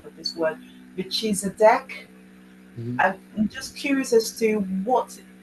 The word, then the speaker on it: Melchizedek: Yes, I thought it was Melchizedek.